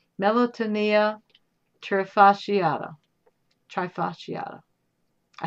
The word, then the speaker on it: trifasciata: Can we get that broken down into syllables? See, this is the scientific name. Melanotanea trifasciata.